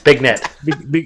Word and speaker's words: beignet: It's a beignet, not a beignet. It's big net.